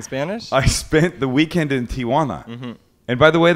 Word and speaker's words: Tijuana: bad this afternoon in Tijana don't I sound like a tul yes you do sound like a tul because you don't know how to pronounce it there's no a it's Tiana H buening guy yeah